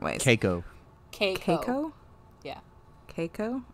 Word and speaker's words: Keiko: caco cake coco yeah keiko okay like cake with an o cake oh cake okay